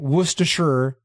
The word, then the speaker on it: Worcestershire: Some of us are from there, and it's Worcester and Worcestershire, respectively, for the pronunciation.